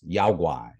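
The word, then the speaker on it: 妖怪: In China, it's pronounced yaoguai, right?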